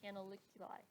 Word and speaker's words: canaliculi: at i know that this word is pronounced canaliculi so that tells canaliculi so that tells me how to pronounce that term so you put